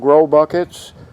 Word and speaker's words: GroBucket: give these a try they're called grow buckets and they're spelled without the W so it's gr o and then you know how to spell buckets so you can get